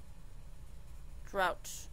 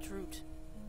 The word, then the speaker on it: drought: Drought. Said like drought. Like what happened in California.